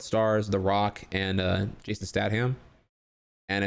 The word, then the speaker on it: Statham: It's not Statham. It's Statham, isn't it?